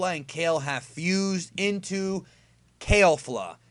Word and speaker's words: Kefla: kale have fused into kale flow that is the pronunciation of the character it's not Catholic it's not kefla it's kid who Fatah kale flaw that is the fusion